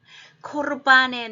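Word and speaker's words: קורבן: 코르 할 때 르가 있기 때문에 한음절에 자음으로 끝나고 액센트가 없을 때는 이거는 카마츠 하투프에서 아로 안 읽고 오로 읽습니다.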